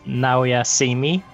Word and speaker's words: Naoya Simi: By the way, the way to pronounce my character's name with last name is Naoya Simi.